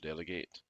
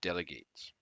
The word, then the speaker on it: delegate: the first is that although the noun and the verb are written in exactly the same way they are pronounced differently the known is delegate the verb is delegate delegate delegate delegate delegate a